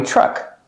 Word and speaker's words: truck: The TR makes a ch sound, like tree and train and chicken. Ch plus the R, truck.